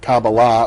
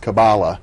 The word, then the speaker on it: Kabbalah: Now we're beginning to throw out a number of terms, and I suppose we better start with Kabbalah, or sometimes pronounced Kaballah, and define for our viewers what that means.